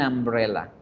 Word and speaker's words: umbrella: Y fíjense bien, la palabra sombrilla se pronuncia con A, umbrella, umbrella. Por eso es que yo escribo la unidad con an, para decir an umbrella, para que exista esa fluidez.